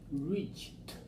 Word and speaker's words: reached: D sound so here reach e d sounds like T voiceless so it's just like